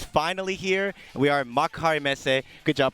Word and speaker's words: Makuhari Messe: We are at Makuhari Messe. Good job pronouncing that, by the way.